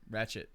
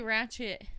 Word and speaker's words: Ratched: but it just sounds like a T when you pronounce it. Yeah. I don't know. I don't know. Who knows? I think it's Ratched. See, and you don't even know. Like, I don't even pronounce the D or the T. It's just Ratched. We say Ratched. We're from Texas. That's Yeah, I true. guess so. You say ratchet. Ratched. And it's almost English. Almost Ratched.